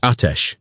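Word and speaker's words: آتش: What you knew in that moment was the poem in your hands and the word atesh, two syllables, the second one falling.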